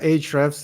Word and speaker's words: Ahrefs: and probably you get this question a lot, Ahrefs, is that the correct pronunciation? And what is it that the product do, and how did you get into this business? Yeah, Ahrefs is exactly the correct pronunciation.